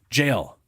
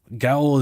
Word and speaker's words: gaol: Jail. Gaol is jail. It's pronounced jail. My brain sees that, and So here's the problem. I see Gao. Gale. It's literally pronounced jail.